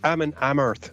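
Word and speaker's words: Amon Amarth: It's Ammon Amarth for that, or Ammon Amarth for that girl.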